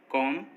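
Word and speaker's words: comb: जब भी एम के बाद बी आएगा तो वो साइलेंट रहेगा। जैसे कॉम, बॉम, थम, डम, इन सभी वर्ड्स में देखिए एम के बाद बी आया है और जब भी किसी वर्ड में एम के बाद बी आता है तो बी साइलेंट होता है।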